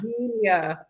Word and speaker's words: Djenia: it that way but it's junior i don't know oh my gosh yeah the d is silent we're good you're good